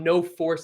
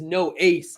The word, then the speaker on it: No Ace: Now that we're saying it in all of its glory, it is not No Force, it is No Ace.